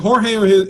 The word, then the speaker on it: George: Is it Jorge or is it George? Let me know. If it's Jorge, say yes. If it's George, say yes, yes. I want to make sure I'm not pronouncing it. Okay, it's George.